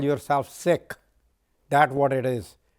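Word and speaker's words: Sikh: fellow SE called seik it's not seik it is sick so you know they are like you know it rhymes with sick but then seik rhymes with seek so there's nothing wrong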